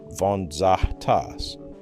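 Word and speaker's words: Vgontzas: Alexandros Vonsas, pronounced vonzahas at Penn State, measured this directly.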